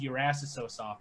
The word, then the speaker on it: EURRASSO Soft: And what you pronounce it as your ass is so soft, which we thought was the funniest thing to say.